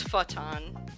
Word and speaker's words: Photon: So, it's spelled photon, but it's futon.